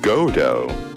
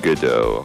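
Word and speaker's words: Godot: Wait, we're saying it wrong. What? It's pronounced Godo. Oh yeah, that's like the third pronunciation I've heard. Good. Like godo. Yeah, but we're saying gooddo godo here.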